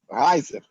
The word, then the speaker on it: Reiser: Pronunciei direito? Reiser.